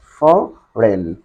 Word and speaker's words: foreign: i g n uh for rain forain in this letter the sounds of G letter must be silent and foreign means next